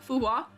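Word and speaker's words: Fu Hua: Is it Fua? Fua or am I do I have to pronounce the H more strongly? Yeah, Fuwa. Okay. I I've been Secret EG secret fooha. Fuha.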